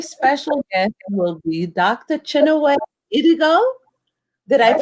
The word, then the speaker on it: Chinwe Idigo: today my very special gift will be dr chenoweth idigo did i pronounce it correctly doctor you did you did um thank you for having me i'm happy to be here you're welcome doctor and dr chinaway has a forum for a black it's a